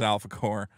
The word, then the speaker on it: Alphacore: Say it right. Don't say it like it's not corpse like you're saying. Oh, you're it's right. Alphacore. You got to really empathize the O and the R and the E.